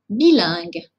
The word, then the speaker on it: bilingue: une phonétique internationale bilingue souvent le problème de prononciation vient de la partie finale le signe que vous